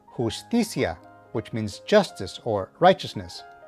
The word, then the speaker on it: justicia: Tip number 2, whenever you see an R at the beginning of a word, you should give it a slight trill or roll the R as they say.